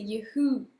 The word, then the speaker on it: Yahoo: d'attendre non en fait c'est Yahoo et l'accent il est sur la deuxième et il faut bien prononcer le H.